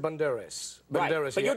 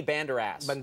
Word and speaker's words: Banderas: your name cuz even your name is Antonio Banderas is that how you say I'm Tony one minute and you want it all together let the date they pronounce it Banderas give me they give me an award in